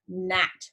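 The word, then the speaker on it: gnat: they bite um so what letter do we not hear in the word net the G or the N yeah you don't hear that G so in the word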